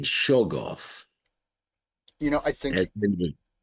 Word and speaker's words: Shoggoth: I always thought that the first syllable was emphasized as in Shoggoth, I think as in the Necronomicon, in the Surah, the curse page, Toglish Shogloth.